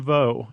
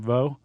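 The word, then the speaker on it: Veaux: Franklin Vo is how I'm pronouncing his last name. Vo. Yeah, V-E-A-U-X.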